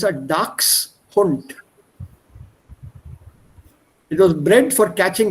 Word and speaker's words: Dachshund: Dachshund. Yeah, people here mispronounce it as Dachshund. It's not a Dachshund, but it's a Dachshund.